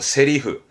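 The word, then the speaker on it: 台詞: 세리흐, 세리흐라는 표현도 챙겨볼만 합니다.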